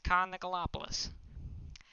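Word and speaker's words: Con Nicolopoulos: see out here and i can pronounce this perfectly this is khan nicolopoulos that is how you pronounce it with five starts this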